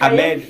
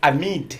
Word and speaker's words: Ahmed: Ahmed, no, it's Amid. Amid.